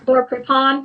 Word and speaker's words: Laura Prepon: And like I know like Laura Prepon, I don't know, is that how you say her name? Laura Prepon.